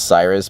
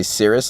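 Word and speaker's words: Syrus: in the first place it's Cyrus but it's spelled sy instead of CY so people say Cirrus a lot of the time channels now serious media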